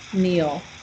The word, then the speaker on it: kneel: to kneel which is also with a k k n but we don't say the k kneel what does that mean